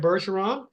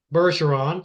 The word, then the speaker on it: Bergeron: name my last name berson so it's F berson the number two okay just a second now people don't know your French and they don't know that's a soft G so spell your last